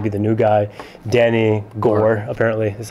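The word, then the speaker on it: Gorrer: it's going to be the new guy danny gore apparently that's how you pronounce his last name danny gore um former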